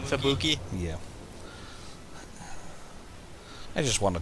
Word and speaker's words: Fubuki: Wonderful Fubaraki. Okay, totally butchered the name. You mean Fubuki?